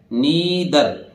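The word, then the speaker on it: neither: ई आर, ठीक है, एन ई आई टी एच ई आर, नाइदर नहीं है ये क्या है, नीदर नीदर नीदर नीदर, आर बोलते ही नहीं अंग्रेज नीदर।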